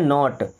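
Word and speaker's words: knot: आर ओ डी इसे पढ़ेंगे road N ओ टी नॉट क्या बोलेंगे नॉट अब इस वर्ड में भी के साइलेंट है इसे पढ़ते हैं नॉट देखिए एस नॉट का मतलब होता है नहीं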